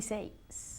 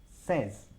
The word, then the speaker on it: says: Es un sonido de E.